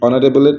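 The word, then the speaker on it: honourable: সম্মানীয় ব্যক্তি তাহলে এখানে এইচ টা সাইলেন্ট অনারেবলের এইচ সাইলেন্ট বলে এখানে এন হবে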